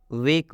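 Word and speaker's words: wake: में ई रहता है तो इस ई का उच्चारण नहीं करेंगे और इस ए का उच्चारण ए की मात्रा से होगा। वेक, वेक का मतलब होता है जागो, यहाँ पर स्पष्ट लिखा भी गया है।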